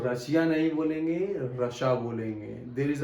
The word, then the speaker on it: Russia: Coming to the next one, the last one, 10th, RUSSIA, रशिया, रशिया ये बोलते हैं? नो, इट is wrong. रशिया नहीं बोलते, उसको बोलते हैं रशा, रशा, रशा। The real pronunciation is that रशा, रशा, रशा।